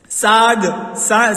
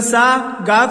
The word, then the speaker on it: ساگ: لہجے میں گاتا ہے۔ ساگ، سین الف زبر سا، گاف ساکن، ساگ، اس کے معنی ترکاری،